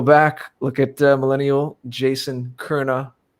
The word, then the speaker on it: Köhne: So everybody go back, look at Millennial Jason Köhne. You almost say it like there's a soft R in there. Yeah. That's how you do in the German, Köhne. Mm-hmm.